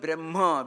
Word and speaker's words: Brahma: Brahma is the word Brahma, which is a long A vowel.